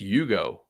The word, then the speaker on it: Ugo: Next kid, Justice Ugo. Like the car, but it's spelled U-G-O.